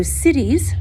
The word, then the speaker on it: siddhis: yoga, we call them siddhis. So siddhis, not like cities, but SIDD, HIS is, I believe, the way it's spelled.